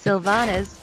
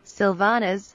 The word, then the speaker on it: Sylvanas: correctly pronounce sanas svan please read the following words in this order Syndicate syllabus Sylvanas symbol symptom Sylvanas synapsis sympathy Sylvanas if you don't chat